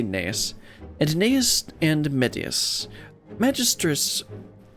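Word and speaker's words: Gnaeus: I'm gonna call him Genus. No. And Medius? G-N-A-E-U-S. I would imagine the G is silent. Maybe Nias? Or Neus? I'm gonna say Neus.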